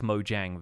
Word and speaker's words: Mojang: asked Mojang videos and I've been saying it with the soft J the kind of Swedish J that's sort of more like a whi sound from English for a while but apparently the company name is mojang so it's it's distinct from that and kind of maybe the Americanized pronunciation of it but I believe internationally